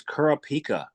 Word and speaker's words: Kurapika: is the founder of factor his name is Kur pika uh welcome thank you very much for having me Jam yeah and you pronounced it perfectly how are you today I